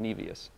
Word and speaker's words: Nevius: We now pronounce it Nevius.